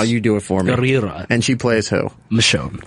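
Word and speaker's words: Gurira: Denai Guerrera. You got to roll your R's. No, you do it for me. Guerrera.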